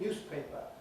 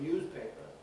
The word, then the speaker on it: newspaper: happening the same with newspaper uh there's absolutely no objections you're saying newspaper but in fact if you listen to native english speakers they normally say newspaper that's sharp s there so on then to